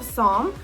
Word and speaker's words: psalm: in the book of psalm okay so that starts with a p when you look it up the p is silent so you don't say it the book of psalm chapter 145 verse 3.